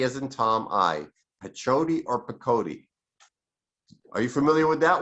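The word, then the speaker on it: pechoti: practiced ayurvedic medicine and it is the pakodi method or patchoti depending whether you're on this side of the pond or that side of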